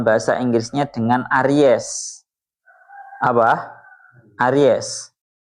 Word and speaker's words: Aries: Aries. Bahasanya benar ya. Aries gitu ya bacanya ya.